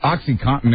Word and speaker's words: OxyContin: I always have trouble pronouncing it. Oxycontin. Oxycontin. It's Contin. Right. Oxycontin.